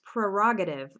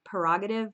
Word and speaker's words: prerogative: tough word to pronounce prerogative some people don't even pronounce this first are they say something like prerogative but anyway that's your